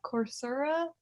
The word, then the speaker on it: Coursera: webinars is what you like EDX and course Coursera course Sarah thank you how it's pronounced but they give free classes and it